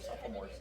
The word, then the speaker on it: sophomore: What's the count of sophomores? How many of those sophomores drive? That's how you spell it. The O is silent.